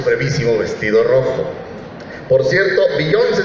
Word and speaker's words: Beyoncé: Por cierto, Beyoncé se escribe con acento en la última E, pero se pronuncia como si el acento estuviera en la O.